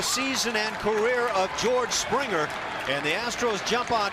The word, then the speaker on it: Springer: Number 1 on the young career for George Springer as he goes opposite field. And boy, would you like to see more and more of that. It's a soft G.